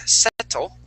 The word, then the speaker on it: settle: example in the word settle okay uh those two T's actually sound like a d so instead of saying set we would say settle okay settle there you